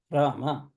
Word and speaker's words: Rama: So, ardhamatrika repha, dirgha anudata, dvimatra kala, akara, anumatrika virama, because Ra syllable is over. And then ardhamatrika, makara, udata, ekamatrika, akara, ekamatrika virama, Rama.